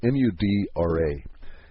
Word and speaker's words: mudra: and if you want to look it up it's spelled mu d ra and it's mudra mudra whatever it's a yogic